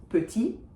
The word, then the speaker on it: petit: But, for instance, the word petit, which if you know English, you probably know, that final T is not going to be pronounced.